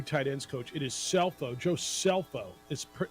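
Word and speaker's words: Scelfo: ends coach it is cell phone josepho is spelled s-c-e-l-f-o C is silent it is self-like in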